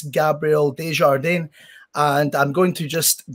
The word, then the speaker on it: Desjardins: The English way would be Gabriel Desjardins. So it's pretty simple, I guess, but a lot of people's got a hard time to pronounce it right because there's a couple ways you can do it, but it's the right way, Desjardins.